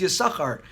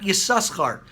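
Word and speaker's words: יששכר: we pronounce it is yasuko not yasuskhart so there is one loud sin and there's one quiet sin and it ties in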